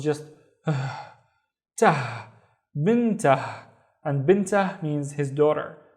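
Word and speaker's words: بنته: here with no vowel, so it's just tah, bintah. And bintah means his daughter, bintah. Let's look at this one. I see a syllable starting here, and I see another syllable starting there.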